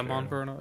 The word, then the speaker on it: Monferno: Monferno. Is that how you say it, Juan? Yeah, Monferno.